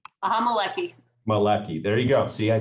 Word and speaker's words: Maleki: Maleki.